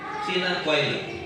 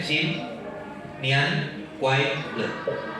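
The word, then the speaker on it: Xin Nian Kuai Le: Sinan Kuai Le. Tulisnya XIN Sin Nian Kuai Le.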